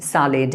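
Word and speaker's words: salad: Sentence से I will have the सैलेड please, सैलेड please, ये सलाद नहीं है, सैलेड है, ठीक है। इसको बहुत सारे लोग मिसप्रोनाउंस करते हैं।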